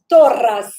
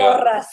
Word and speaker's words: Torras: It's called Torras. Torras. If I pronounce it Torras, yes, double R. Spanish company.